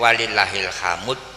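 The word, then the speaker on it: وَلِلَّهِ الْحَمْد: Diperbolehkan untuk membacanya "walillahil hamud." Di asrama, menurut Alfiyah, jika dibaca "walillahil hamd," disebut ismam, mencampuradukkan huruf-hurufnya, tetapi jika dibaca "walillahil haud," disebut naqal. Anda bisa bertanya kepada guru, karena dibaca "walillahilhamdu."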